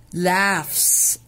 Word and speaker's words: laugh: The gingerbread man laughs. الGH هنا منطوقة ف، ولازم الولاد يعرفوا ان الGH لما بتيجي في اول الكلمة بتتنطق غ، في نص الكلمة بتبقى silent، وفي اخر الكلمة بتتنطق ف. فقلنا laugh.